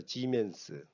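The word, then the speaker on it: siemens: 지 다니는 기 맺습니다 지멘스 s 라고 읽으면 안 되고 치면 스 g 맨 스 그 다음에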